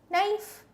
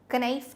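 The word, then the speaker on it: knife: Like नाइफ। घर पे ही होता है। कनाइफ नहीं बोलते ना?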